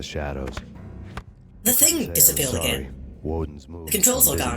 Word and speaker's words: Woden: Also, one-eyed guy's called Woden. Oh. Yeah, I didn't even think of that. They pronounce it more like wooden, so I didn't even pick up on it.